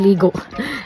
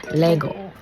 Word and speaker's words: Lego: daw kami ng Lego hindi itg ligo Lego Dati kasi Bisaya nga tayo ' ba so matigas ang ating mga kadila diyan ang pagpronounce ko nito is ligo Buti pa si bunso